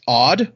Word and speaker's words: Odd: The name, I'm gonna try my best to pronounce this. The first name is Odd, ODD, and then it's Vetrus, VETRHUS.